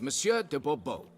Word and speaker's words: Monsieur de Bobo: or better yet as Monsieur de Bobo fine monsieur dabubo the emphasis falls on the last syllable um see now I'd